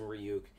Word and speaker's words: Ryuk: i'm paraphrasing buddies like it's pronounced ryu not ryuk what this thing this